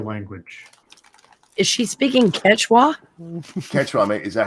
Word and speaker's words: Quechua: Quechua, mate.